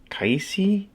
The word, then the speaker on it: Kaisi: It's pronounced Kaisi. Not totally sure how to pronounce it, but it comes in this nice little PU fake leather case.